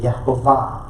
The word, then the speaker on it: Yehovah: pointing, which would make it Yehovah. They usually leave off the holum, which is the dot in the middle, which is the long O sound.